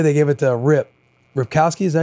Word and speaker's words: Ripkowski: Ripkowski, is that how you say his name?